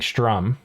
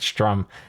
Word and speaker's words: Sturm: He's got another mod that he's made called The Gathering Sturm. I probably have been saying it wrong all that. I've said Sturm. It's Sturm, I guess.